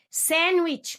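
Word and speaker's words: sandwich: زو تكت تكت تكت ساندوتش ما اسمهاش ساندوتش عشان حرف الدي سايلنت مونكي وبس تمام كده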